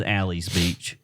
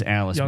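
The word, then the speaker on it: Alys Beach: Well, I will say this: we drove through Alice Beach, which I thought was Alley's Beach. Yep. But it's Alice Beach. Y'all got all that money. Spell it right.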